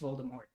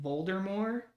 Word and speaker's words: Voldemort: Yeah, I was gonna say the that it's not pronounced Voldemort. It's like pronounced Voldemort, but like There's a T though.